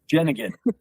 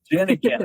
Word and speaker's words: Janjigian: Janjigian. Did I pronounce that? Janjigian. Janjigian. Janjigian, okay.